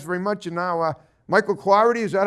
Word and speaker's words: Cloherty: And now, Michael Cloherty, is that how you say it?